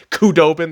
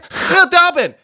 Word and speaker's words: Khudobin: Because Khudubin, all the fucking YouTube commenters going apeshit, especially Stars fans, because I've been pronouncing it with the fucking hard K, Khudobin. They're like, it's Khudobin. The K is silent.